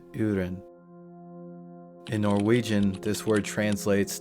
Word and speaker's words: urin: It is said how it is spelled urin.